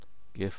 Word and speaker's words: GIF: setting in Photoshop to save this as a GIF. GIF or GIF as some people pronounce it.